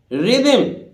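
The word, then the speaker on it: rhythm: mechanic इसी तरह देखिए रिदम रिदम एच यहां भी साइलेंट है रि दम रिदम रिदम रिदम किसको बोलते हैं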